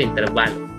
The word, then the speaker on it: intervalo: Se pronuncia intervalo porque es grave la palabra. En cambio, si fuera intervalo, tendría que llevar acento y sería esdrújula.